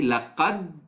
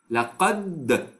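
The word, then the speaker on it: لقد: So just simply, what I will do, I will say laqad, laqad, laqad. What I did, I just pronounced the dal in the first part, in the first phase. I pronounced the dal correctly.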